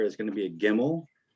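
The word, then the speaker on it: ג: going to be a gimel which kind of has a g sound and they have it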